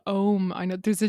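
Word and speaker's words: Ogham: written language is called ohm i know there's a g in the middle irish language oh my god it's very complicated g and the h is silent together i know it's very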